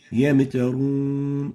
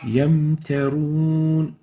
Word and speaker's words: يمترون: The second common mistake is giving qalqala to the Mim while it has sukoon, while it's in the still state. Yamtarun, yam. This is wrong. The right way of pronouncing it is like this. يمترون Yamtarun. We don't say yam. So there should be no qalqala given to the Mim.